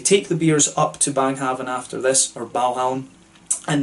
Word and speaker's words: Baghaven: in Copenhagen as well, which is called Baghaven in sort of anglicised Danish, but Baghaven from what I understand in regular Danish pronunciation, if you can call it that.